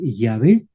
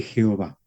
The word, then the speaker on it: Yahvé: diría que es más correcto decir yahvé que Jehová Porque yah tampoco es seguro de que ese el nombre de Dios porque como les he comentado ya el el nombre de Dios no se pronunciaba o su pronunciación hace mucho que se perdió pero por la manera como el hebreo realiza eh los sonidos mediante la combinación de consonantes y vocales más exacto sería decir yé que Jehová pero pero una vez